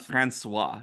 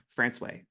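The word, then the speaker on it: François: No, it is not Francois. You would think it would be Francois, but it's not. In fact, this town is called Francois.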